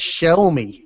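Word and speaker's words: Xiaomi: copy zami XI zi that's shomi is how you say that Jeff the shomi Y and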